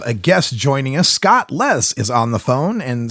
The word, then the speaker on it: Les: Chronicles we have a guest joining us Scott Les is on the phone and Scott welcome to the show thank you very much and I hope I hope I got your last name pronunciation okay is it Les it's Les Les okay fantastic thanks for being